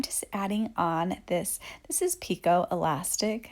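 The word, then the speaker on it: picot: Now I'm just adding on this is Pico elastic. It's spelled like Bacot, and you guys know this is my favorite.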